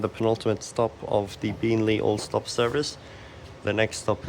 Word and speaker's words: Beenleigh: And why does it say Beenleigh? Like, so emphasizing on the two syllables. That's like wrong.